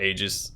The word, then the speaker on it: Aegis: Or Aegis, it can be pronounced either way.